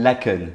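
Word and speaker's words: Laeken: Laken, je prononce à la française, ça vous allez voir.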